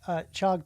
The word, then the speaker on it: Chag Pesach Sameach: But I will say You gotta get more chus in there. Chag? I don't think Chag. It's Shag Pesach. Sameach. Yeah. Yeah. Cha. Yep. You got a cha.